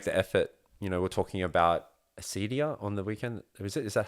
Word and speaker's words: acedia: We're talking about acedia on the weekend.